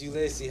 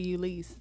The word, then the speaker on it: Ulysse: with our very, very special guest, Miss Ulysse. How you feeling, mama? It's actually Ulysse.